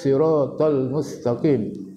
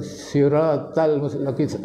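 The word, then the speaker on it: الصراط المستقيم: shirot lepas Hai jodoh bacanya Ih bukan ih ih bukan eh ihdinas sirotol mustaqim sira tol bukan siratalmustakim kalau siratalmustakim banyak salah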